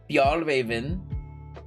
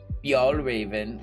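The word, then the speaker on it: Fjällräven: Fjallraven, I think is how you say it. Fjallraven, which is like F-J-A with an umlaut. I don't know what they call it in Swedish. L-L and then like Raven. R-A-V-E-N, I think.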